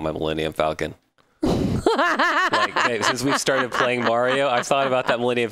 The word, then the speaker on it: Mario: I am a pro Mario have you notice bugs doesn't say Mario anymore it's Mario yeah he says the the Italian pronunciation the correct pronunciation all right come on